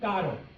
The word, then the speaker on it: caro: Caro.